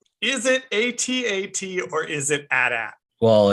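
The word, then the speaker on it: AT-AT: empire strikes back and whether it should be correctly pronounced atat or at at in this movie the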